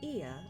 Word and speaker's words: Ea: When the vibration of vocal folds was still required to convey our thoughts and intention, Ia, I believe, was the pronunciation used when referring to our people.